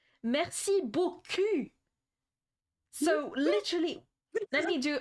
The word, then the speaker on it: Merci beaucoup: Merci beaucoup. So literally, let me do a translation. Mercy Boku means ass in French, okay? Merci beaucoup. He literally said, thank you, pretty ass.